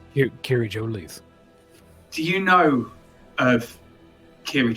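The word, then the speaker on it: Kiri-Jolith: Kiri Gillette? Kiri Jolith.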